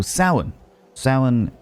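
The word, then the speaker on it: Samhain: the Celtic people I mentioned a moment ago Sin Sin which is spelled like this saan is a tradition of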